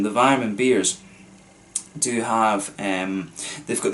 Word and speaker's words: Weyermann: I've always found, I think I was saying in the last video as well, the Weyermann beers, German pronunciation, the Weyermann beers do have, they've